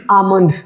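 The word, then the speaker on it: almond: आ रहा है एल तो एल यहां पे साइलेंट होगा जैसे कुछ एग्जांपल्स है क्या पढ़ेंगे इसे पाम बाम आमंड आमंड तो अब अगर जो हम एल को हमें ये नहीं पता कि ए और एम के बीच में यदि एल आए तो एल साइलेंट होता है तो आप क्या पढ़ते हैं इसे पालम पालम पाल हां बहुत सारे बच्चे पढ़ते हैं इसे गलत तरीके से इसी तरीके से क्या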